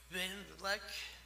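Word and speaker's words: Van Vlek: How do you pronounce that? Van Vleck.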